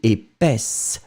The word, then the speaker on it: épaisse: Feminine form, épaisse, s. D'accord? The S, don't go too far, I mean too much on it, but still it should be present, hein? Épaisse.